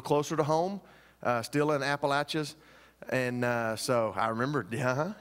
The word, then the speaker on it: Appalachia: the mission trip was they threw an apple at you and I said that's how you say it's not Appalachia so it's Appalachia and so that's how you remember they started throwing apples